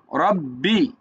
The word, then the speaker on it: রব্বি: বি তাহলে কি হইলো রব্বি রব্বি টান হবে না রব্বি অনেকে টানে এটা ভুল রব্বি তারপরে জাজের দাল